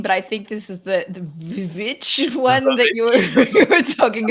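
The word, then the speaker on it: The VVitch: Okay, the next one is The Witch in 2015, but I think this is the Witch one that you were talking about, Sharad.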